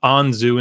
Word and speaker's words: Anzu: So it's not actually even written Anzu in Sumerian. It's An-im-dugud. Anyhow. Okay, so now that we've cleared that up, it's Anzu, it's not Zu.